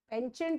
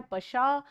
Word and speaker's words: penchant: पेंचेंट नहीं है, PENCHANT spelling जरूर है, लेकिन उसका प्रोनाउंसिएशन होता है पशा.